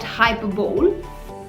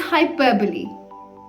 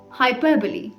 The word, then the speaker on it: hyperbole: discussing is this one and no it's not hyperbole but the correct pronunciation for this word is hyperbole hyperbole come on say it with me hyperbole absolutely right so now let's understand the meaning